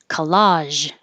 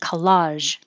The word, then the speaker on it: collage: And 26, collage, collage. Ta-da! With a zh at the end, collage.